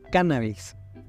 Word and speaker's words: cannabis: Sin embargo, durante las últimas décadas se ha introducido en nuestra lengua el término cannabis, con el acento en la primera A, tomado a través del